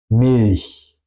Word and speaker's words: Milch: Es decir, que por ejemplo, Milch, Milch. Y ese CH es mucho más suave.